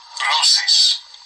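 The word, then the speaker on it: βρῶσις: Meat comes from 1035, B-R-O-S-I-S, this word. Strong's G 1035. Brosis.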